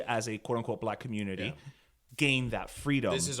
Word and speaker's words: Communitea: And that's, I'm very deliberate in how I pronounce it because it's not community, it's community, but then instead of the Y, it's TEA. So it's like a tea dance.